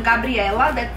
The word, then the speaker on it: Gabriela: Gabriela, that would be the pronunciation.